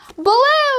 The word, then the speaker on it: Baloo: His name is, it rhymes with bamboo. Baloo, yay!